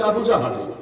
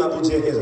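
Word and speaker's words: أبو جهل: হয় এই উম্মতের ফেরাউন আপনারা অনেকে নামটা বলেন আবু জেহেল জেহেল মূল উচ্চারণ হলো আবু জাহেলি এটা বলা তো জটিল সংক্ষেপে আবু জাহাল আবু জাহাল এটা বলতে পারে তো এখন আবু জাহাল যাকে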